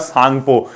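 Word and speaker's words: Tsangpo: मतलब इंडस, इसके बाद सांगपो। सांगपो में टी क्या है, अपने आप में एक प्रकार का साइलेंट है।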